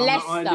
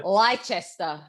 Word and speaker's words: Leicester: it's what Greenwich, Americans say as well. And I Leicester. live near. Leicester.